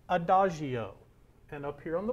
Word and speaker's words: adagio: our first word that we see here is pronounced adagio and up here on the board adagio means